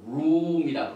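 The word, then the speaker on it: רום: 이걸 발음을 룸이라 그 룸 테루마이 테트는 3인칭 미래를 he 그래서 여기에 보니까 룸이 아주 기초적인 단어인데 룸이란 뜻이 뭐냐면은요 땅에 있던 것들이 쭉 올라갑니다.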